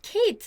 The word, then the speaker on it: Kate: But Kate is Kate, not Kate, right? So you have to think how your name is pronounced.